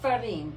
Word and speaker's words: Ferrin: Ferrin.